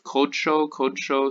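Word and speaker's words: קָדְשׁוֹ: Actually, it's a closed unaccented syllable, so this is kamatatuf. Kodsho.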